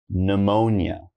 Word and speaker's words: pneumonia: The P is silent. So all I'm gonna say is pneumonia, okay?